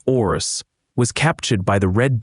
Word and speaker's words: Horus: That Horus, whom we actually pronounced Orus, was captured by the red demons of Seth.